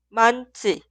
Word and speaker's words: 많지: Y siguiente se escribe así, pero se pronuncia 많지, 많지, 많지.